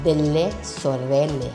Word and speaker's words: Delle Sorelle: Actually it is pronounced as de Sorele. That's an Italian word.